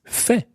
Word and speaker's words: fait: pattern so the past participle of fair is Fe say that's spelled f-e-i-t so to see I have done